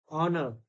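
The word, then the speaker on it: honour: Psychology में क्या हो रहा है कि पी is silent, psychology. ऑनर, ऑनर में एच साइलेंट है, आवर एच साइलेंट.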